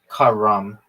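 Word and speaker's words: carrom: How did I get good at Karen? Yeah, dog. I just did. Apparently. The way you really pronounce that game is Karam. It means to move. It means to move in Arabic.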